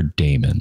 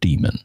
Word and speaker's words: daemon: power D, which is the power daemon or demon, depending on how you pronounce it, and that's the process